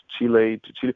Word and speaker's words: Chile: playing Brazil Argentina Chile Chile how do you say it in English is it like Chile no yeah Chile it's chili or what all right okay